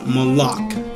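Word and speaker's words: מלאך: 4 397 it basically is a word is pronounced malach from an unused root meaning to dispatch as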